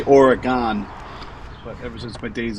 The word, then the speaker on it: Oregon: And you can't use service entrance cable in California or Oregon or Washington.